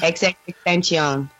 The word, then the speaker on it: XXXTentacion: I don't even know how to pronounce the man's name still. Triple X Tentacion. Tentacion. What is it? XXXTentacion.